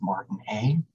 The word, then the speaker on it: Martinet: It looks like it's spelled Martinez, but it's actually pronounced Martinet as part of it.